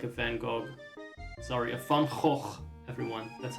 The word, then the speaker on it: Van Gogh: Sorry, a Van Gogh, everyone. That's how you pronounce that.